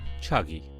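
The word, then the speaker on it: Chagai: is deposit is in the place called chaga hills or as a locals pronounce a chuggy so the chalky field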